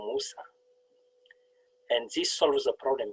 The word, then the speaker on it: Moussa: my name is uh musa and it is very easy to pronounce so let me teach you how to pronounce my name think about chocolate mousse so musa and this solves a